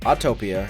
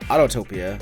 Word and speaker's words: Autopia: words or Blended words mixing automobile with Utopia it is pronounced autopia and not autotopia or a Utopia or